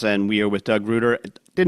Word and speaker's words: Reuter: Reuter. Like Reuter. Reuter. Yep. Okay. I think I said Reuter. You Doug, know, that's Go- the correct pronunciation, but all the family pronounces it Reuter. But Reuter. if you lived on the coast, it would be Reuter.